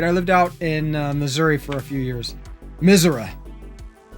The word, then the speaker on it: Missouri: drive out but um everybody that lives in missouri which is how it's supposed to be pronounced calls it misera i don't [ __